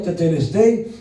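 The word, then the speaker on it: τετέλεσται: Es un término algebraico griego que quiere decir, se pronuncia teteleste, pero quiere decir pagado en su totalidad al contado en una sola exhibición, la sangre de Cristo.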